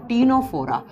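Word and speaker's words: Ctenophora: पहले जब हम देखो सी से लिखा जाता है लेकिन इसको प्रोनाउंस करते हैं तो टी से कर जाता है तीनोरा आप तीनों फोरम में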